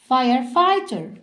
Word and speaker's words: firefighter: firefighter. خد بالك هنا ان الجي والاتش silent.